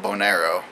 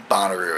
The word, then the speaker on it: Bonnaroo: we got to go to this concert called bonero because the first time I saw it online I never heard it pronounced and so yeah I was calling it